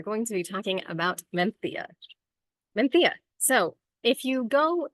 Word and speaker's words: Mencía: pronunciation I learned is Mena so if you want to be kind of old school that is the old world pronunciation of it um and I say